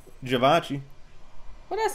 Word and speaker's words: Givenchy: Even though it's supposed to be Je.